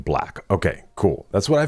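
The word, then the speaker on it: 6LACK: Okay, R&B artist six like pronounc his stage name black.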